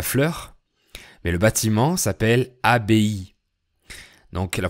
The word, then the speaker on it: abbaye: Donc ce mot se prononce abbaye et pas abeille.